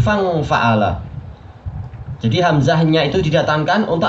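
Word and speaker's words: فانفعل: Bukan fa'angfa'ala, tapi fangfa'ala.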